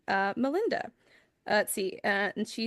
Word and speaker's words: Malinda: Ooh, how to pronounce Melinda's name?